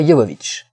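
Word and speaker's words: Jovovich: série Resident Evil avec Mila Yovic. Si si, c'est comme ça que ça se prononce.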